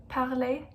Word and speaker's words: parlez: Vous parlez. Remember, we don't pronounce the Z.